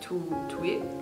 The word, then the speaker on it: TWIT: twit means you're like like the actual word twit except she pronounces it like two week well tight sometimes it